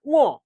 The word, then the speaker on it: ঙ: উচ্চারণটা উম না, উচ্চারণটা ঙ।